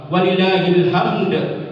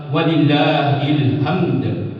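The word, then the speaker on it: وَلِلّٰهِ الْحَمْد: Walillahilhamd. Kalau walillahilham artinya dan bagi Allah adalah ilham. Ilham itu artinya inspirasi. Gak mungkin Allah diberikan inspirasi yang sebenarnya adalah walillahilhamd.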